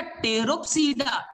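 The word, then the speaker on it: Pteropsida: P बेटा टेरोप्सीडा, T silent है, टेरोप्सीडा ऐसा वर्ड आएगा। L4 बच्चा लाइकोप्सीडा, लाइकोप्सीडा।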